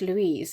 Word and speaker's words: Luise: So E is just Louise, and you kind of drop off the E.